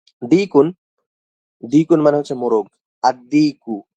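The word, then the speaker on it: الديك: আদ-দিকু, এখানে আল উচ্চারণ না হয়ে দালটা উচ্চারণ হয়েছে।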